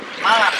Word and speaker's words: Malang: Malang.